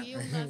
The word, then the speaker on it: Uilna: Estamos dando início a mais um podcast Farpas e Ferpas, com a nossa convidada aqui especial, o Wilna, não é isso? A pronúncia? Wilna, é essa. Acertei a pronúncia.